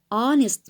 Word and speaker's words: honest: horse okay but here this word begins with a silent H so at our so if the word with silent H like honor for example or honest mistake okay so these words are contained silent H so you have to say and our and honest okay guys so if the words start with silent H you have to use and because in this case you begin with a vowel honor honest so an honor work